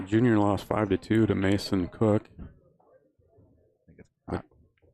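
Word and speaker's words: Koch: Pretty sure it's pronounced Cook, but could be wrong.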